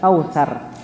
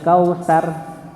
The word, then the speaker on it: Kautsar: Maka lebih baik kita bacanya bukan kausar, beda, ya. Inna a'tainakal kautsar sama inna a'tainakal kautsar. Ditebalkan huruf ra. Kautsar bukan kausar. Nggih, terlihat tipis kausar. Kautsar ditebalkan. Huruf ra-nya ditebalkan karena huruf ra ini